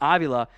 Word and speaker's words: Avila: And in theory, I've got Tyler Smith and Steve, I think I might have mispronounced here, Avila, so it's a long A at the front, Avila at left guard.